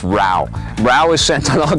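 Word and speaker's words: Rau: No, it's Rao. Anyways, Rao is sent on all kinds of missions. Mark? No, it's not Mark. Mark, no, it's not. It's Rao.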